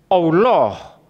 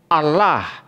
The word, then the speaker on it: Allah: Allah in Arabic is pronounced as Allah or Allah depending on the sentence that it is used in.